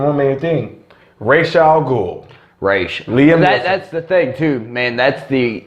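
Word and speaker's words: Ra's: oh we forgetting one man teen rachel gould Rach liam that that's the thing - man that's the correct pronunciation your name they call it how they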